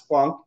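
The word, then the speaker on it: Planck: was from Poland um like Max plunk and he threatened to fail us if we said plank um he was very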